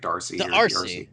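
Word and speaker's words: D'Arcy: pronounce his last name the D apostrophe Arc y I think it's like Darcy DRC he is gonna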